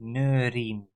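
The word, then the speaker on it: neuriën: So there's a trema on the E, and that is because if you wouldn't have the trema, then the pronunciation would be neurien.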